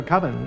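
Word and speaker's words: Coven: It's pronounced Colvin, man. What else could it be pronounced? Uh Colvin, that's the proper pronunciation.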